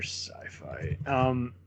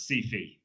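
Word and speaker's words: Syfy: It's not Sci-Fi anymore. It's Sci-Fi. Yeah, that's true. Rhymes with Fifi.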